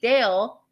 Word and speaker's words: dale: So if you see Dale, don't think it's like Chippendale. It's Dale.